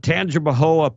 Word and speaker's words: Tangipahoa: alcohol uh and uh Tangipahoa Parish Louisiana thank God I did this story because I I would have butchered that name yeah tangible or Parish by the way that's t-a-n-g-i-p-a-h-o-a tangible HOA that's up there close to